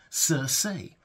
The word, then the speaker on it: Cersei: how you might think he doesn't say Cersei he says sir say he doesn't say Lisa